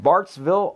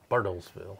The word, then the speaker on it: Bartlesville: from Bartsville, Oklahoma. Bartlesville, I think. Bartlesville. Yeah. Oh, there's an L.